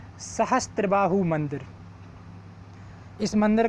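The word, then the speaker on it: सहस्रबाहु: किंतु स्थानीय अपभ्रंश के कारण इस मंदिर का नाम सास बहू मंदिर पड़ गया है। कुछ लोग जिनसे सहस्त्रबाहु उच्चारण करते नहीं बनता था, उन्होंने इसका शॉर्टकट उच्चारण किया सास बाहु मंदिर, सास बाहु मंदिर।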